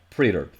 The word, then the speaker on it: praetor: hunger a legendary creature pretter i actually i checked the pronunciation i think i finally am pronouncing it right pretter it has trampled and